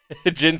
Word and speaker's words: Gin: Okay, wait, is it Jin or Gin? Jin Toki. So it's pronounced Jin.